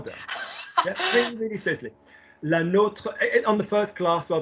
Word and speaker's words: nôtre: Another way I always teach it is to think how Americans say Notre Dame. Yeah, no, they don't say Notre Dame, they say Notre Dame, like as in the university rather than, So yeah, so so la nôtre is more interesting.